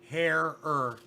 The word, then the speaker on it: Herer: the one that said Herer. And I'm like, oh, that's easy enough to remember. Herer. Okay. He says that's what Jack used to tell people to pronounce his name.